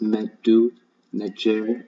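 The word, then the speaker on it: medu netjer: And then it's supposed to be pronounced meddu, nejer in the ancient Egyptian language, meaning the word of the gods.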